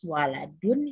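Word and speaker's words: ولد: Ada alif setelah waw, membacanya berbeda. Yang atas waladun, yang bawah walidun.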